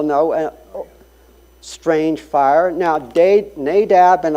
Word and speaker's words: Nadab: and Strange Fire now nadab and abihu it's actually nadav and avihu is the Hebrew pronunciation these were the the